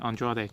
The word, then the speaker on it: Andrade: Yes, I said it right, Andrade.